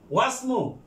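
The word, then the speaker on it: وَاسْمُ: বালকটির নাম মোহাম্মদ, ওয়া ওয়াসমু এর উচ্চারণ এই হামজাতুল আসল, হামজাতুল আসল আগের ওয়ার্ডের সাথে মিলে পড়ার সময় হামজাতুল আসল লেখার সময় এটা লিখতে হবে, কিন্তু উচ্চারণের সময় উচ্চারণ করা যাবে না।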